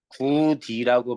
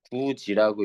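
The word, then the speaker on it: 굳이: 구디라고 발음하면 왕따 당합니다. 구지라고 읽어야죠.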